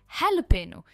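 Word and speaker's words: jalapeño: इसे कहते हैं हेलोपेनो। भले ही ये जे से स्टार्ट होता है पर ये हैलोपेनो।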